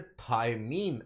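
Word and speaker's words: thymine: अच्छा स्पेलिंग ध्यान रखिएगा थाइमिन के। बिकॉज़ एक थाइमिन और होता है। यहां पे जो हमने थाइमिन लिखा है वो क्या है? टी एच वाई एम आई एन ई सो दूसरा होता है थायमीन इट इज़ a vitamin from द vitamin B complex group this is a vitamin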